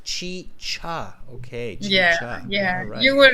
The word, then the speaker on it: chicha: my pronunciation on yeah not chica but chi cha okay yeah yeah you